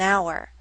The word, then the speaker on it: hour: Our starts with the letter H, but we don't pronounce the letter H. The first letters that we pronounce are O and U. That's a vowel sound. That's why we say an hour, not a hour.